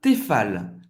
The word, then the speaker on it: Tefal: Outra marca para cozinhar, Tefal. Tefal. O E tem o som do E. E você vai pronunciar o L no final.